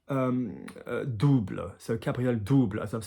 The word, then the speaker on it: double: And anything with an OU would be here on the chest and the tummy, U. So double, double, okay? Double, not double, double.